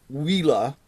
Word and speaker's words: Uila: a company that spelled you ila but it's pronounced Lila and Lila is fairly new in the industry